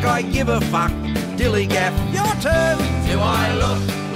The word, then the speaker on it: DILLIGAF: And I can relate to their attitude too, in a word, dillygaff. That's spelled D-I-L-L-I-G-A-F, dillygaff.